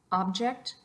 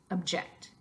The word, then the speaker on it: object: the verb object object there's a little bit of difference in the initial vowel and how it is pronounced but the most noticeable difference is how we shift the emphasis from one syllable to the next along the same lines